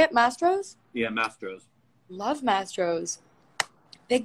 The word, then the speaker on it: Mastro's: Mastro's?